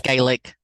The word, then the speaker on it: Gaelic: Is it Gaelic? What is that? And over the Gaelic. It's Gaelic. Gaelic. Thank you.